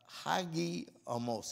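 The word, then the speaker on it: hagiasmos: To summarize, sanctification is a translation of the Greek word hagiomos. I'm going to spell it H-A-G-I-A-S-M-O-S.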